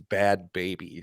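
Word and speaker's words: Bhad Bhabie: she's a bob Barbie instead of bad bad baby bad baby it's spelled b-h-a-d b-h-a-b-i-e it's bad baby spelled stupid you need we need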